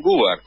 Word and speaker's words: Goobar: No, lo pronunciaste bien, Gubar.